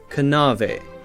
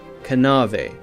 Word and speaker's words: knave: in English were pronounced a word like knave K and a ve would have been pronounced something like kanava kanava now we have a silent K so we don't say